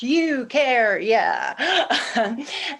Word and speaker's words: Eucharia: And hi, my name is Eucharia, and it's pronounced Eucharia.